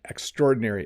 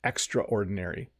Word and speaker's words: extraordinary: best this is an extraordinary ice cream you know sometimes in English we will over pronounce this word we'll say something like oh it's extraordinary but the fast way to say it is extraordinary it's extraordinary but sometimes